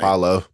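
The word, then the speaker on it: Paolo: And not only do they not have offense Paulo Pablo whatever how you pronounce his name? Paulo.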